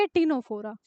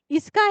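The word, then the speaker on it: Ctenophora: अगले हैं आपके सीटेनोफोरा। यहां भी यही हाल है। इसमें 'T' साइलेंट है।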